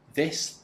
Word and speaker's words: this: Remember not to do this too fast or to say it wrong. I don't want to hear ziss, z, z's, and zos.